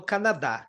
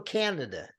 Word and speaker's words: Canada: Então, para você ter uma ideia, aqui no Brasil eu falo Canadá, nos Estados Unidos eu falo Canada. Onde que está a sílaba tônica? Está no K do começo.